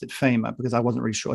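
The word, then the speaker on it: Faema: Is this mechanism from 1961, which was actually, I realized then, and I'm so glad you pronounced it FEMA, because I wasn't really sure. Is it FEMA? FEMA, mm-hmm.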